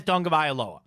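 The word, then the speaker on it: Tagovailoa: Somebody asks him at Alabama in an interview to say his last name, and he says Tunga Vailoa.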